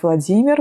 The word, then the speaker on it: Vladimir: Ici, je le dis avec la prononciation russe, ça va être Vladimir, Volodya, Vova. Et après, il y a des diminutifs comme Vovchik, Vovachka.